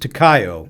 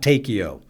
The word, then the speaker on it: Takeo: "Colonel, it's pronounced Takayo, not Takeo.